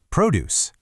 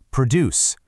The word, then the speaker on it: produce: Produce. Produce. The stress has jumped all the way to the front to that first syllable. It's not produce anymore. It's produce. And that's our noun.